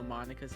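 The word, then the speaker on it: Monika: Monica notes that's not how you say her name. You're supposed to pronounce it Monica and not Monica. Monica.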